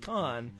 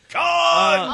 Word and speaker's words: Cannes: but the feedback that's coming back from this movie was just recently shown at Cannes or Cannes, however you pronounce. Cons. Can seems wrong, but I keep getting corrected.